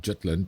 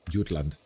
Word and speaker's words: Jutland: far as I know it's not pronounced jetland but utland but anyway it's not